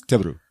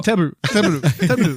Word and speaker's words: Teburu: They want you to pronounce come on, and they want you to pronounce Teburu. Oh. Teburu. It's like Toblerone. It's Japanese for table.